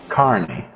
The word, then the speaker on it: Carney: What is the correct pronunciation of that name for anyone wondering at home? Carney. Carney. Yes. I would have said Kearney.